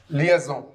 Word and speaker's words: liaison: So, all the time you can pronounce it. It seems very nice, and it's called liaison. Liaison.